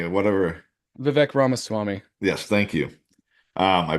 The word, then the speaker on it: Vivek Ramaswamy: So Rikaswamy or whatever. Vivek Ramaswamy. Yes, thank you. I butchered his name.